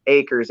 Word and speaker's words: Akers: name is matthew akers last name is spelled a k is in kimberly e r is in robert s acres a-k-e-r-s the other one is